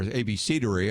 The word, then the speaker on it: abecedary: Now, you might say, what's an abecedary? Or abecedary, I've heard it pronounced that way as well.